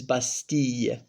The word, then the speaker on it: Bastille: In France it's la Fête Nationale, and obviously Bastille in French is Bastille, double L is usually pronounced like a Y in French, usually.